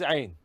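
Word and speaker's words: ع: go to a nein this is Ain this is ein the aim should be pronounced from inner part of the throat pressing the end of the tongue ah the ah sound should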